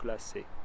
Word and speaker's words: glacée: sensitivity to this, because on many of the notes that have an unvoiced E at the end, he keeps the same pitch. So on glacé, he keeps the same pitch. So you can get away with saying glacé. I gave a slight E at the end, but not much. And it doesn't add a syllable.